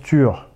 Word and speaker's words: Tyr: Il faut savoir que Tyr en norrois ça se prononce Tur.